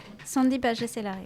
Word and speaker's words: Sandy Pagès-Hélary: nom C'est comme Pardon ça qu'on prononce ton nom Sandy Pagès-Hélary.